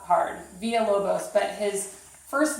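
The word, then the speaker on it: Villa-Lobos: first thing via whoa Bose is not hard Villalobos but his first name is th er it's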